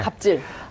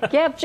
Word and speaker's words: 갑질: 근데 저 갭이라고 돼 있지 않습니까? 갭질 이렇게 될 수 있는 거 아닙니까?